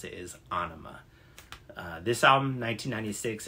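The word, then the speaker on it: Ænima: pronounce the album I always thought it was pronounced anima uh for some reason but actually uh band members have said that the correct way to pronounce it is anima uh this album 1996 it's got it I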